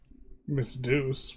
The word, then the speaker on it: Miss Deuce: Miss Deuce, which rhymes with goose, says it would be a bit broken.